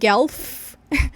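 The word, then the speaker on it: Guelph: e ele vive em eu pronuncio o gelf ele vive então em gelf no Canadá igual o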